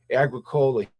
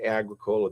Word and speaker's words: Agricola: man Mike Agricola he pronounces it Agricola. the guy that owns it. But when you study Latin, agricola, that was the first thing you learned. Agricola, a Greek, that means farmer, right? A Mike Mike pronounces it the Americanized version.